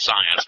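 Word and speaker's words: Psience: people i just called science yeah science because you know when we talk about psi activity the p is silent the term psi has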